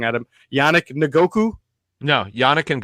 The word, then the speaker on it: Ngakoue: me if I say it wrong, Adam, Yannick Ngakoue? No, Yannick Ngakoue.